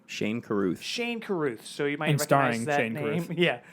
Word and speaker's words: Shane Carruth: Shane Carruth.